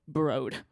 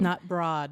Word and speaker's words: Broad: he's so rich that although his name is spelled BR OAD he's gotten everyone to say brode oh that's how he pronounces his name not broad not broad so my